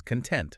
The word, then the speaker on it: content: A classic example is content. Okay. If you stress the first syllable, it means you're happy. But if you stress the second syllable, content, it's like what's inside something, right? Like the contents of a box or something. Exactly. Same letters, completely different meanings. All because of that little stress difference.